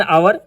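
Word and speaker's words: hour: हावर नहीं होता बल्कि आवर होता है। एच साइलेंट होता है। इसलिए she state there for एन आवर इस्तेमाल होगा।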